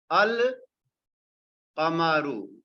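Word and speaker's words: القمر: The letter lam is pronounced. The pronunciation is al-qamaru.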